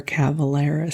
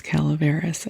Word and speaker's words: Calaveras: I do believe it is Calaveras, and I have been mispronouncing it, so if that annoys you, I am so sorry.